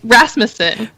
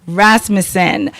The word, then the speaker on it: Rasmussen: It's Rasmussen. Rasmussen.